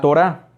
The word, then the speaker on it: Torá: canon judío número 1 la torá la torada lleva acento en la y al final la torá que es la torá